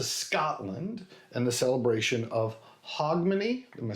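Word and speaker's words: Hogmanay: It was in reference to Scotland and the celebration of Hogmany.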